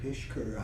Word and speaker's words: Pishker: Pishker. P-I-S-H. P-I-S-H. Yes. K-U-R. Right, Pishker. It's actually spelled the way it's, or it's pronounced the way it's spelled, but there's too many S's and K's and H's in it.